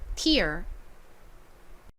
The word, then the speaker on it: tear: ear 자 다음이 단어 여기서 ear은 Ear 소리로 쓰였죠 그러면이 단어는 어떻게 발음하시면